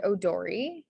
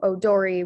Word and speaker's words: odori: for this is that the o sound in japanese is spelled with an o and then the e sound in japanese is spelled with an i um so odori would be spelled o-d-o-r-i